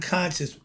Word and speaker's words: conscience: Okay, and they spelling conscious. When you see me pointing this way, when you say conscious, that's because it's spelled CONSCIENCE, meaning the heart conscious.